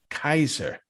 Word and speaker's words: Caesar: c in latin so all of the initial c's are pronounced like k's and we get that